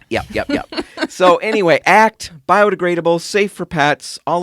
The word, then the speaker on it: ACT: now the product that haley used was called act if you spell it the hayley way it's a-c-e as she